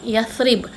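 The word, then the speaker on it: يثرب: Dulu Madinah dikenali sebagai Yathrib. Ejaannya macam mana? Huruf ya, fa, ra, ba. Yathrib. Sebut Yathrib.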